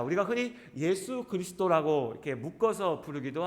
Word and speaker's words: 예수: 겁니다 자 우리가 흔히 예수 그리스도 라고 이렇게 묶어서 부르기도 하지만 2분의 이 존재의 이름은 예수 입니다 예수 예수 라고 하든 이 이름은 헬라어의 발음 이구요 가 그리스식 발음 이고요 원래 구약의 히브리어 에